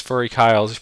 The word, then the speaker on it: FuryKyle: believe the correct way to say it is furry Kyle's premium keyword list now what that is is